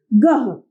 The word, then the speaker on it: गृह: गह, ग के साथ री की मात्रा लगाते ही शब्द बनेगा गृह गृह।